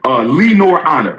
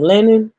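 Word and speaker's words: Lenon Honor: Oh, that's how you pronounce his name. Let's shout him out again. Lee Nor. What did I call him? Lennon? I don't think he got his name right. He said Lee Nor Honor.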